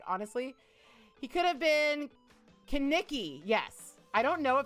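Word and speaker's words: Kenickie: Kaneki or Nikki, it's definitely pronounced Kaneki.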